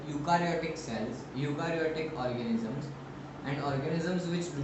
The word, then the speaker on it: eukaryotic: So now organisms which have nuclear membrane are called eukaryotic cells. Eukaryotic cells. It's U. E is silent. It's eukaryotic cells.